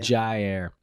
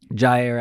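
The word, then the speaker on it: Jaire: will Redmond and Alexander how do you say his first name is Jai or zai Jiao Jai air Jai air Alexander you know like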